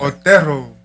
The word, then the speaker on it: Otero: Otero. Also, you do roll the R.